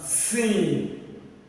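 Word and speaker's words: س: Okay, this one sin, sin, sin, sin.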